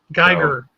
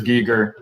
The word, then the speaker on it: Giger: up a pronunciation um in the germanic languages we have the e and the i like that it's the way we would look at it it's uh the the long vowel of the second letter so it's if it's e i then it's geiger if it were ie it would be gear i am listening to